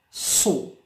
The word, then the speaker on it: saw: Saw. Yes, A pronounced O.